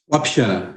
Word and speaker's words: Wapixana: O Biratã, só por gentileza, eu pronunciei corretamente o nome da sua etnia, é Wapixana ou Wapixana? Wapixana. Wapixana. A primeira pronúncia.